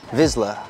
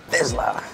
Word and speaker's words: Vizsla: Vizsla. Close, but not quite. Vizsla.